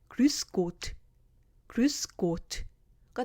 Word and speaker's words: grüß Gott: 방금 전에 tschüss 발음의 뒷부분인 으스 발음 앞에 그 루가 붙었을 뿐이에요. 그래서 grüß 그 다음 뒷부분은 Gott 합하면 grüß Gott가 됩니다.